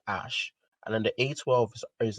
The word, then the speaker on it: Æ: is just letter x the a e is pronounced like ash and then the a12